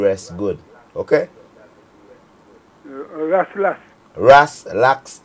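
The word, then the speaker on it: RasLax: Ras Lax syrup, like relax.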